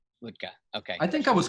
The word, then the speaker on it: Wuttke: I was told is what key bike what key would you use to open your garage but the real pronunciation is vodka vodka okay I think I